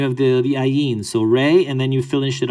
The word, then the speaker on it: Ra: circle right that's wrong we say re even the coptics say re they don't say raw they say re we say raw as westerners and then you can